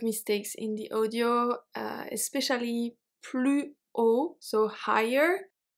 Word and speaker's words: plus haut: I found a couple of mistakes in the audio, especially plus haut, so higher. They don't even say plus haut. They don't even make a liaison with a Z sound. They say plus haut.